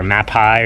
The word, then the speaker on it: Mapei: lbs of the charcoal I think it's pronounced map or mapi or something m a p EI it's a it's a